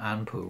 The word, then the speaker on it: Anpu: rite, to the name Anpu, which is the name you would pronounce, the way you would pronounce the name Anubis within the Egyptian language.